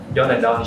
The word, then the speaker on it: John and Don: Hồi nãy bạn cho mình hỏi là cái shop này đọc đúng, đọc cái store này đọc đúng tên là John and Don đúng không? Chính xác. John and Don.